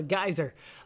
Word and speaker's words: geyser: start looking for a geezer everyone I forget that that that they pronounce it geezer over in England we call it a geyser but we got a